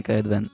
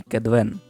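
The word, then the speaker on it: Kaedwen: а чи знали ви що правильно не айдірн і каедвен а едірн і кедвен це все ляпи русского переводу але оскільки ми вже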